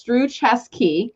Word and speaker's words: Struczewski: spelling are you guys loving this right now pronounce through chess key that's because of brenda brenda gave me the